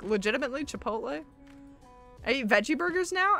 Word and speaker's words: chipotle: can hear gear hero you know how people make fun of how chipotle is pronounced and they say like chip a plottle or chippito or you know they they do it for fun that's the way i